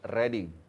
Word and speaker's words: Reading: This, how you pronounce this? Reading.